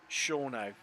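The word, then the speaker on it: Shawano: Well, according to good old Wikipedia, it's pronounced Shawnau in Shawnau County.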